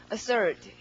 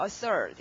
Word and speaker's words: assert: 발음은 assert. 이렇게 R 발음 제대로 하시고요. assert. 이렇게 R 넣으면 되죠.